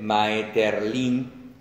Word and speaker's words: Maeterlinck: En el escritor y simbolista franco-belga Maurice, vamos a leerlo como se escribe, Maeterlinck, seca al final, autor de La vida